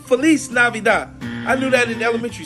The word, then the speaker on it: feliz navidad: it's the same thing how do you say Merry Christmas in Spanish Merry Christmas oh yeah that's right Felice benice feliz feliz navidad I knew that in